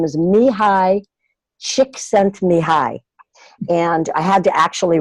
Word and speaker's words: Csikszentmihalyi: in a link is it just looks like something that you couldn't pronounce but it's cheeks have been high and he talks about